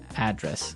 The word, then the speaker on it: address: you live Y and there the stress is on the first syllable address right perfect very good okay